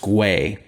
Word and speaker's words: gwei: see something called uh gwei which is pronounced gray and so it might